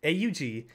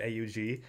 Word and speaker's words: AUG: It is AUG. It is an acronym. I'm not going to say AUG. You don't say UMP. You say UMP because it's an acronym. I am pronouncing it AUG, and I always will pronounce it AUG because that's how it's supposed to be pronounced.